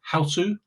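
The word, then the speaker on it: Hausu: house or sometimes called houseu uh because the last syllable s is something that doesn't get pronounced in Japanese so sue is is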